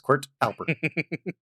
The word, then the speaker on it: Quirtalper: Yeah, Quirtalper. So it is like QWERTY, but without the Y. So it's Quirtalper.